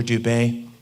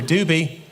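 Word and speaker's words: Dube: His name was spelled D-U-B-E. People come in all the time. They don't want to pronounce it wrong. I'm here to see Dr. Dubé. I've got an appointment with Dr. Dubé, please. She's like, it's okay. It is Dr. Doobie.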